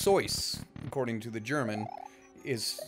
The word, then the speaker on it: Seuss: Seuss yeah they're yeah it's actually pronounced sois according to the German is well not just